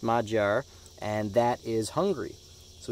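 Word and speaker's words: Magyar: in their own languages we have mod jar I think that's how it's pronounced mod jar and that is hungry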